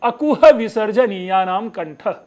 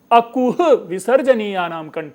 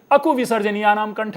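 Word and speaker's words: अकुहविसर्जनीयानां कण्ठः: विसर्जन या नाम कंठ ध्यान से आप सुने कि कु के बाद स्पेशली मैं ह के उच्चारण के लिए कितना प्रयत्नशील हूं अकह विसर्जन नाम कंठ है लेकिन सामान्य लोग इसके इसे अकु विसर्जन या नाम कंठ बोल देते हैं ह गायब हो गया अब ह गायब हो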